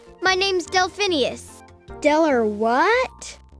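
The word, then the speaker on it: Delphineus: as I was trying to say my name's delphinius Del or what delin US got it delphinius got it complicated name cus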